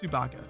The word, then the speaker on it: Tsubaka: It's Tsubaka. His name is Tsubaka. It sounds like it has baka in it, and it kind of does.